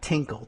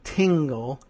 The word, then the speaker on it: Tingle: The man, Adam Tingle, T I N GL, not Tinkle. Tingle.